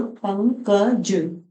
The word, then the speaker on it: पंकज: समझ में आ जाएगा ये मैंने बोला पंकज हल्के हल्के बोलो पंकज अं की आवाज आ रही है और अ की बिंदी के जस्ट बाद यहां